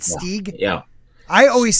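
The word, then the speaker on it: Stygg: wow s-t-y-g-g i know spelled a little different but pronounced the same no i always say your name wrong don't i it's stig right stig yeah i always say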